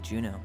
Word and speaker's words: Juneau: Bet you're gonna miss him when you move to Juneau. How's he doing? Good. Juno, that's how you Good, pronounce good.